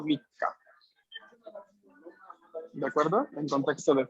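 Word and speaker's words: 三日: O sea, que si yo quiero decir que yo nací el 3 de tal mes, yo ese 3 no lo leo San, sino que lo digo Mika.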